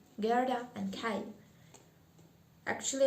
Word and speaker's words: Kai: Chapter 2, Gerda and Kai. Actually, I got used to say Kai as in Russian, but in English it seems that's right to pronounce it K or something like that.